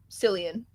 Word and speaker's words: Cillian: Jillian is pronounced Jillian? Yeah, Cillian.